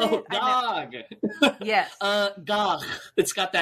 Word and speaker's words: Gagh: Gog.